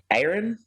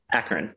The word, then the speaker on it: Akron: forward mission to scope Aaron. Is Aaron how it's pronounced? Akron, sorry.